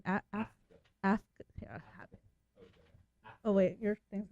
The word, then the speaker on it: Afka: Yeah, so Afka. Afka. A-F-K-A. Okay. Like Kafka, the writer, but without the K.